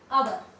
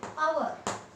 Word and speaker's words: hour: Here h is silent and it is pronounced hour. Its pronunciation is hour.